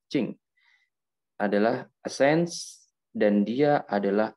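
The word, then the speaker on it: 精: Tulisannya ini jing ya, kita bacanya cing.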